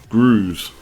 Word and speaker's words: Gross: Gross is pronounced like Cruz. So Groos, is it?